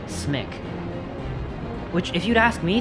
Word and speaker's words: CMYK: They pronounced it smick.